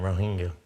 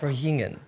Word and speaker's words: Rohingya: Food for the Hungry to help relieve the Rohingya refugee crisis in Bangladesh. And say that again, Rohingya. Can you say Rohingya? It's hard to say, it is hard. But you can help. Rohingyan.